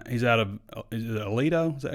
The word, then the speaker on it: Aledo: Yeah, Chris Johnson, he's out of is it Aledo? Is that how you say it? Aledo, Texas? Yeah. Aledo, Texas.